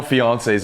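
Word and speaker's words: fiancé: No male fiances in in the Olympics this year, dude. I'm like embarrassed. I'm a fiance, dude. Three syllables. Yeah, French accented one.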